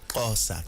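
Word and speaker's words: Xhosa: How do you say Nkosa? Kosa.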